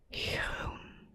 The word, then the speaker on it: groen: Now, the oo sound we have here, it's the same as a double O in English, like in good. You have a double O, but here it's a OE in Dutch instead of double O. Groen, groen, groen.